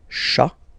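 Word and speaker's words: chat: And then final T is not pronounced, so you get cha, cha, okay? Un cha, all right?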